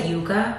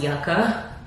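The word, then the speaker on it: Yucca: the Natasha denona yaka I want to say Yuka because Yuga is a root that I love eating I think it's called casava um in English but Yuga is delicious this is pronounced yaka um I always reorganize my palettes in a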